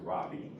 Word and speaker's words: Rabi: has a component that is in the transverse direction at a frequency omega which is what we call the Robbie frequency not frequency but it's pronounced Robbie um uh I don't know but But um I would imagine somewhere in Germany he was a rabbi.